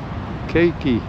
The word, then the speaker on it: keiki: Here, keiki.